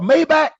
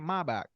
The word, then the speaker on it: Maybach: The way the Germans, the engineers, and the way the Mercedes, yeah, they pronounce it Maybach.